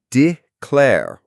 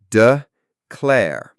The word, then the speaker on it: declare: Declare is declare with the stress on the second syllable. The I in D is a schwa sound like duh. So dclair. What's an example sentence, Sarah?